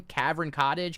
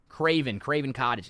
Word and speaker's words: Craven Cottage: Cavern Cottage. Cavern. How do you say that? The cottage. Craven. Craven Cottage. I was I was close. I was close.